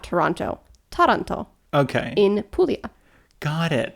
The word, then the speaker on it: Taranto: It's spelled almost exactly the same. And it's because they're from Toronto. Well, they're not. I don't know if they're from, but Taranto. Taranto.